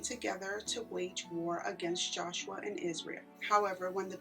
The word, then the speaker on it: Joshua: There are many different pronunciations of these names in the Bible, and I think I have been pronouncing this name as Joshua when in fact the pronunciation is Joshua.